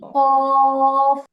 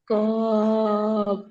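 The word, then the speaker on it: كاف: পরে কাফ ঠোটটা স্বাভাবিক থাকবে এবং উচ্চারণটা পাতলা হবে কাফ কা কাফ মিম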